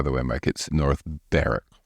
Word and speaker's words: Berwick: killed yeah by the way my kid North bar not Berwick my birth mom is from Berwick Nova Scotia